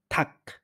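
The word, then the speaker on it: 닭: ২ নাম্বারটা হচ্ছে থাক। এখানে রিয়লের উচ্চারণ হয় নাই। এখানে আপনার গিয়কের উচ্চারণ হইছে। যার কারণে এই নিচে বসার কারণে এটা ক এর মতো করে উচ্চারিত হইছে।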